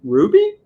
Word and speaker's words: RWBY: at b we've got how do you pronounce that ruby ruby rwby uh number one though